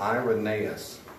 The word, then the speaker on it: Irenaeus: Irenaeus, that's pronounced Irenaeus.